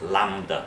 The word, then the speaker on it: lambda: It's pronounced as lambda, but that's just me showing off.